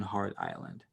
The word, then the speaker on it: Hart Island: doing mass burial on Hart island question mark Hart island that's not spelled like hard but pronounced like hard har T well I